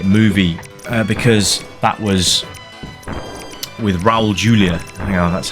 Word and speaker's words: Raul Julia: The Addams Family movie because that was with Raul Julia you know that's how you pronounce his name but yeah it's not that